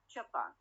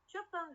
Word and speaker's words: Japan: Japan. Japan, the primary stress is where on the last syllable, Japan.